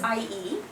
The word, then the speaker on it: IE: getting better you know so actually it is iie right and um yeah because it's i and e in the alphabet and this is leg